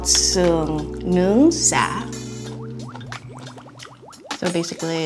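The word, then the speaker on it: sả: How do you say it? Suon Sung. Nung. Nung. Sa. Sa. Sa. Sa. Say sa. Sa. Sa. Stretch the A.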